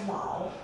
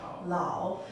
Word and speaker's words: 老: This character is pronounced as Lao. Lao.